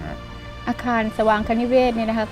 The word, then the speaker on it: สวางคนิเวศ: ออก เสียง แปลก ๆ ออก เสียง ก็ สว่าง นะ คะ ก็ เป็น สวางคนิเวศ ซึ่ง ความ หมาย ก็